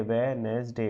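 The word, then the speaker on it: Wednesday: टू सी मी ऑन वेनसडे वेनसडे D silent होता है ना एज आर एल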